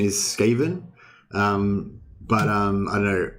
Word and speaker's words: Skaven: friends just all call him scaven because i guess we learnt the name from like reading the books back in the 90s before there was youtube um and um and stuff um but yeah i'm pretty sure skaven is correct yeah thanks nicholas um